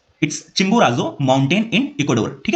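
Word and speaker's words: Chimborazo: study किया चिंबोराजो ठीक है थोड़ा डिफिकल्ट है प्रोनाउंस करने में इट्स चिंबोराजो माउंटेन इन इक्वाडोर ठीक है कहां पे है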